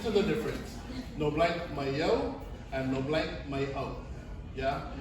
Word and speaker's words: mai au: No blank, mayo.